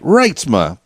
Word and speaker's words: Reitsma: your last name for me right I did pronounce it right Reitsma perfect and you're okay give the people a